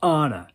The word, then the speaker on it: Anna: Anyways, Anna Branson. Celia just glared at me like I just licked snot off my lips. It was not Anna Branson. So Celia said, Anna. It's pronounced Anna. Anna. 1 N.